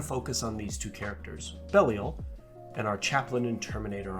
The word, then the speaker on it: Belial: I always thought it was Belial, but I listened to an audio drama a few weeks ago and it's pronounced Belial, so mind blown.